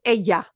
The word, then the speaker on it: ella: Some people do pronounce this as ella. Okay. And more really that y sound, but Asia, I have